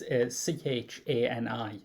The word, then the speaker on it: Chani: That was it, Cheney. Yeah. Was it Cheney? I may be mispronouncing. I can't remember. It's Chani.